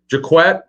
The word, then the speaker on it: Jacquet: If Jacquet, by the way, that's the correct way to pronounce his name, I was told.